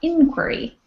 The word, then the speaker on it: inquiry: And one quick note is this one here is actually inquiry. So the accent is on the I, inquiry.